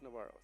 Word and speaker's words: Navarro: Navarre. Is that right? Oh, with an O at the end. So it is Navarro. I was like, how do you say Navarro without O? So it is Navarro.